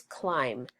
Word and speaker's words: climb: Our second high frequency word is climb. Climb, we say climb, but there's a silent B at the end that we cannot hear.